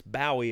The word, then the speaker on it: Bowie: usually ask mispronounced a Bowie knife but I would like to make a bowie knife where it's like don't say that to the people in England cuz it's bow a over there it's lated bow like